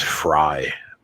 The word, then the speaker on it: Frey: I think actually it's Fry. I think that's how they pronounce it.